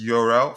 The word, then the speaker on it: Jorrel: His name is pronounced Jorrel, first name, and last name Hato. I think we did talk about that the other day, and staff explained, yeah, because it is Dutch. The J sounds differently.